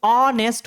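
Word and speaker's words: honest: अब ऑनेस्ट का जो प्रोनाउंसिएशन है वो ऑनेस्ट हो रहा है, ऑ का साउंड दे रहा है, इसके पहले किसका प्रयोग करना होगा, एन का प्रयोग करना होगा।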